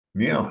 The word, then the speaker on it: Nil: Neil, it's nice to see you. And it is pronounced Neil, not Nil, right? It is just Neil, exactly, Neil. yeah.